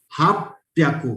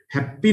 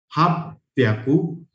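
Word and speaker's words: はっぴゃく: For 800 the word is hap pyaku. It's not hap. Happy नहीं है इसका pronunciation. It is hap pyaku.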